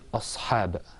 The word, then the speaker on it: أصحاب: This word أصحاب, okay, it has a صاد sound. Oh, Instead not of a sin.